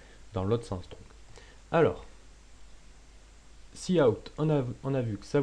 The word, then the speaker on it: cout: Alors, cout, normalement ça se prononce cout, mais je dis cout pour aller plus vite, permet d'afficher du texte.